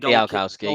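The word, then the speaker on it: Bialkowski: So that's I should pronounce his name right. Bielkowski and Bielkowski, yeah, you got that spot 8.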